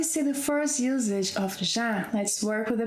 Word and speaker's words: já: Ok, so before we see the first usage of ‘já’ let´s work with the pronunciation. It's 'já' as in 'vision'.